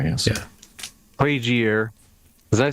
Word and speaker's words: Plagiere: Plagiere, yes. Yeah. Plagiere.